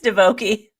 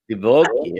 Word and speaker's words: Divoky: no, there's no S. It's Divoky. Divoky.